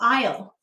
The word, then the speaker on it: isle: out to the small aisle go ahead and say aisle let's sound it out i this is an if i e silent s did you hear that silent s ooh silent finally go ahead and write i'll